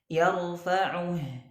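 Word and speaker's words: يَرْفَعُهُ: Yarfa'uh. Tidak boleh kita bacanya yarfa'uhu. Ya. Yarfa'uhu. Nah, atau dibaca ismam. Yarfa'uh. Ya, ada isyarat bibir lagi mencucu, ya.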